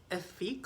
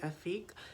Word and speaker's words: Efque: it is the effort it's from the effect line is how you pronounce it i hope i'm saying it right afique it it was a